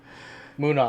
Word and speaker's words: Munnar: Munnar. Okay, that's how you say it. Munnar.